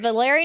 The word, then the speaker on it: Valeri: But the same thing people wonder about, is it Valeri Nichushkin or Valerie Nichushkin? I think the way that you're saying it is Valeri. Correct. I'm sorry. Yes, it is Valeri.